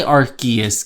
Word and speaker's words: Arceus: You're right, no matter how you pronounce it. Okay. I'll say Arceus because something tells me that's right, even though that's never what I would say.